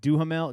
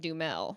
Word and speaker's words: Duhamel: i think it's just dumel josh dumel he's starting to look like him to me do you see it at all you're saying his name how it's spelled and it's just josh dumel josh and he is